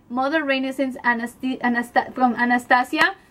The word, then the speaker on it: Anastasia: renaissence anast anast from Anastasia Anastasia see because I am Latina pron that's the way you pronounce um I don't know if English you say Anastasia but I Say Anastasia but that's the colors